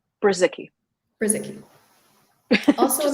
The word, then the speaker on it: Brzycki: Brzycki.